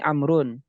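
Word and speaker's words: عمرو: temukan dalam Amr ini amrun ini Umar kan wau ini namanya untuk membedakan antara bacaan Amar dengan Umar kalau ada wau ini dibacanya Amr kalau nggak ada Waw ini namanya Umar begitu ada lagi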